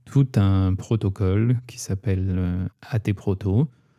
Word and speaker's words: AT Proto: un protocole qui s'appelle AT proto. J'ai tendance à dire AT proto parce que ça s'écrit AT en majuscule. Ouais, moi aussi. Mais c'est vrai que ça serait plus hâte proto je pense.